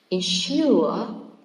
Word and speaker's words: ensure: Ensure, it's a verb that contains 2 syllables, so it should be stressed on the second, okay?